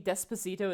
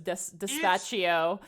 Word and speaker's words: Despacito: If you have to live with that, you have to live with the fact that I was mispronouncing Despacito as Despaccio for the entire.